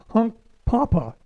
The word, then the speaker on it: Hunkpapa: Is it Hunk Papa? Hunk Papa. Hunk Papa. Get the emphasis on the right syllable. Hunk Papa.